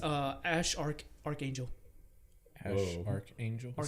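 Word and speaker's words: X Æ A-Xii: I know how to pronounce his name now. Oh. It's Ash Archangel.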